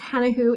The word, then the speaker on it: Hanahoe-Dosch: I'm your professor, Hanahoe-Dosch. It's a long name, I know. It's pronounced Hannah who Dosh, as in Hannah, the woman's name, who, as in, who would want a name like this?